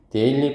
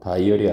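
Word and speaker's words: dairy: 그래서 극단적으로 뜨거운 날씨에 데일리 프로덕트. 발음 잘해라 이거. 다이어리 아니야. 데일리야.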